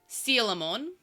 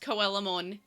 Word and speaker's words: Coelamon: It's Sealamon. But anyway, it's so hard to pronounce correct because my monkey brain goes Coelamon. So I have to go Sealamon.